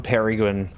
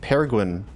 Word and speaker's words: Peregrin: Like Peregrine. See, that's what I'm actually confused about. I don't think I've ever actually really thought about what... There's not as much emphasis on the second R.